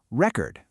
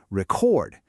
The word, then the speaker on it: record: We stress that first syllable, record, like a vinyl record. But when it's a verb, an action, the stress jumps to the second syllable, record, like you're about to record a video.